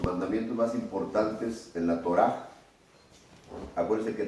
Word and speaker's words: Torá: más importantes en la Torá. Acuérdense que Torá no es ley, y se pronuncia Torá, como si pronunciara una J al final, Torá.